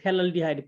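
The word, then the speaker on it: phthalaldehyde: Common name इसे बोलते हैं थैलल्डिहाइड, पी साइलेंट होता है, थैलल्डिहाइड।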